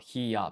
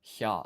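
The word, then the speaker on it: ひゃ: So this becomes not hiya, but hya, a blended syllable.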